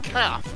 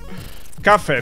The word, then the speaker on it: Cafe: You continue to pronounce it Kath, like a cow, a baby cow. You need the E on the end. Cafe then. Yes. Yes, that's acceptably close.